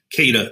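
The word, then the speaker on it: Quedagh: owned the ship and kata is the correct pronunciation okay so how do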